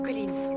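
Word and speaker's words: Colleen: Donc je m'appelle Colline, mais pas Colline comme la colline, hein.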